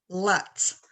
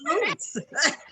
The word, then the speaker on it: Lutz: So, how do you pronounce your last name? Lutz. And how do you pronounce the town? So, and the town, the town is Lutz.